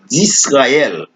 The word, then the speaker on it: Israël: C'est d'Israël. C'est S. Il n'est pas prononcé comme Z.